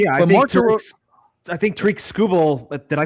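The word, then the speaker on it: Skubal: Uh yeah, I think Tariq Scubble. Did I pronounce his name correctly? Scooble.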